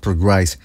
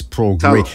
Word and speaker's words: Prograis: And if you could beat him convincingly, yeah, I'll give him a shot against Prograis. Yeah, okay. So Brandon White is telling me that it's pronounced Prograis, not Progrise.